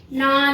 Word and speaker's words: gnaw: Not these animals gnaw the food. These animals gnaw the food. Gnaw means G is the silent letter here.